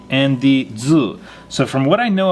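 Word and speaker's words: ず: marks is pronounced ji and su with ten ten marks is pronounced zu these are pronounced the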